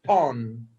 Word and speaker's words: montón: Monton is a mound, a pile. How do you spell that? M-O-N-T-O-N. And it's an accent on that second O, because monton.